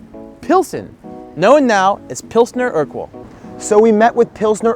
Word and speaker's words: Urquell: So it's pronounced like Urquell, like Steve Urquell.